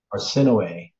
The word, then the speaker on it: Arsinoe: Our sin away. Arsinoe, like no way, okay.